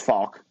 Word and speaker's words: Faulk: we're all gonna die no it's Faulk I try to say Faulk my bad with the mispronunciation so Justin Faulk had